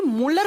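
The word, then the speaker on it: Mulder: इसकी खोज की थी मोलर नाम के साइंटिस्ट ने है मूल दी ए आर लेकिन इसको प्रोनाउंस करते हैं तो दी साइलेंट हो जाते हैं इसे मूलर बोल दिया जाता है फिर ये जो प्रोटीन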